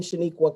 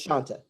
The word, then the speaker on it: Shanta: I have been Shaniqua quite often. It's Shanta. I also get Shantae or Shanae from Martin, if you remember that series on TV.